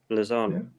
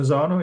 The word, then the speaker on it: Lozano: Is that how you pronounce it? The right winger? Yeah. Lozano. Yeah. Lozano, yeah.